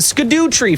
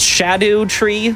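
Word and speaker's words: Scadutree: him and take the sco tree fragment it's supposed to be pronounced Shadow tree it's like Old English or something nobody says that we say sco or Scooby-Doo uh skidy RZ fragment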